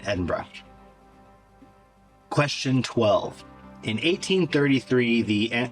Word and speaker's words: Edinburgh: I know how to say it correctly. Glasgow and Edinburgh.